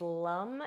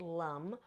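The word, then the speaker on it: lam: So, the seed sound of the root is lum. It is spelled L A M, but we pronounce it lum.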